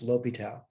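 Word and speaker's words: L'Hôpital: Certainly, I'm not an expert in the pronunciations of this guy's name, but my understanding is it's pronounced L'Hopital.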